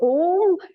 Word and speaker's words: Om: primordial sound okay so om is the primordial sound that consists of three syllables a m now he says what